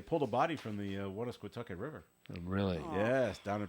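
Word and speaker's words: Woonasquatucket: You pronounce on that pretty her. well. Well, say it again. Wannasquatucket.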